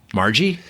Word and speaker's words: Margie: Margie? Rhymes with lethargy.